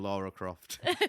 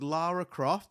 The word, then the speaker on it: Lara Croft: Apparently I kept on saying Laura Croft. You literally, all of the different characters that she dressed up as today, you literally pronounced every single one wrong.